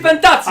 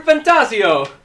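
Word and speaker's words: ReFantazio: ref fantasio or something fantasio I like to do it Italian style metaphor I shoot to the CEO I play the metaphor fantasio my last name is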